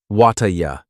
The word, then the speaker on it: what have you: Natural speech squeezes it. What have you becomes whata ya.